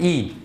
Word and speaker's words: y: E, yeah, that's how you pronounce it, E.